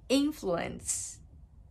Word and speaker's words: influence: 影響ですね影響インフルエンつ頭にアクセントですよ influence インフルエンザつどうです